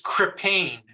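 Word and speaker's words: Krippahne: and it is hang on spelled it is crippane and it is spelled k-r-i-p-p-a-h-n-e okay okay k-r-i-p-p-a-h-n-e got it thank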